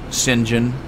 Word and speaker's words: St John: where you came from my last name is St John or as they pronounce at singen but I've looked at